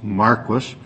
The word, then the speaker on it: Marquis: my office to advise us that it is pronounced Marquis because right. the areas there are various varieties of wheat, of which Marquis is a wheat variety, and apparently that is